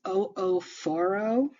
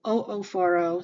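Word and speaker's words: oophoro: mastitis the ovary is o4o you do pronounce both of those O's so o4o so if you were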